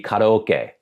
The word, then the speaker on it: karaoke: a great example again I have no idea based on the spelling why Americans say karaoke it should be karoke if you're pronouncing it the way a Japanese person pronounces it I know how